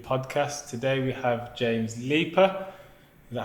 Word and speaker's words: Leaper: Today we have James Leaper. Is that how you pronounce his name?